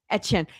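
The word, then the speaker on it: Etienne: Etchen.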